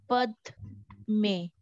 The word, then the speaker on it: Padme: Then Padme, Padme, Pada, Padme. So there is not T, is the Padme. Pa and the Pad.